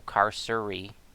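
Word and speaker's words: Carceri: the Tartarian depths of cursory pronounced car so car Surrey okay so it's car Surrey also known as Tartarus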